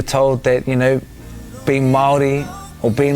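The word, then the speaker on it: Māori: that Stan is from which is Maori right that's how you pronounce it Maori like I need to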